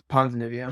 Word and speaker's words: Ponzinibbio: I'll do Harris's opponent because I can't pronounce his name. Okay, so it's Ponzinibbio. Yeah, Ponzinibbia.